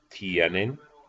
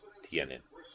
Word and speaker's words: tienen: n e MLS the ustedes form is tienen TI en one syllable and the other syllable yet tienen and the AOS na